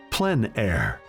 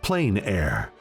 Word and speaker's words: plein air: open air or outdoors the french pronounce it plein air others say plain air no matter how you